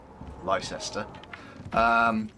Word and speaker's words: Leicester: That's Leicester actually, there.